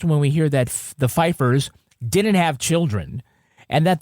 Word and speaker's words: Pfeiffer: Pfeiffer. There's a P is silent, so it's Pfeiffer.